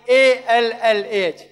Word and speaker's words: Allah: We Muslims, when we write in English Allah, we write A-L-L-A-H. But Reverend Scofield wrote A-L-A-H. They pronounce Ella, we pronounce Allah.